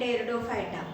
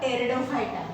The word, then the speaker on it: Pteridophyta: The division third is nothing but a Pteridophyta. Here P is silent, therefore we write it, we spell it as a Pteridophyta.